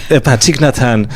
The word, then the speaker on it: Thich Nhat Hanh: Com a pronúncia correta, a dizer com a pronúncia... Thich Nhat Hanh.